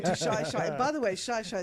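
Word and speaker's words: Xai-Xai: By the way Shya is spelled with an X. It's X Xi.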